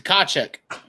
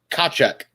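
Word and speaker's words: Tkachuk: pretty sure you did the car check try again check i'll give you one more shot wrong tweet you're you're over complicating it over complicating this name yes okay kachek i'll give it to you it doesn't say i'll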